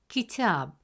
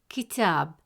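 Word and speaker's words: كتاب: First example, the word kitab. In the word kitab, meaning book, the letter ta has a fatha vowel, which gives it a short a sound, pronounced as ta.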